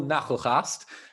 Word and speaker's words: Nagelgast: And Nachelgast, 10 out of 10 for pronunciation, right?